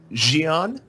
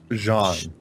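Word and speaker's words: Xi'an: Jean. Or Jean? Or what? How? Xion. Xion? Xion or Xian. Well, XI in English is pronounced, even though it's a Chinese word, is we pronounce it as she.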